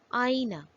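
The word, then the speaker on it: آئینہ: It can be used to denote the presence of 2 vowels present together in a given word. For example, Alif Mad, Hamza, Chhoti Ya, Noon, Gol Hai, Aina, mirror.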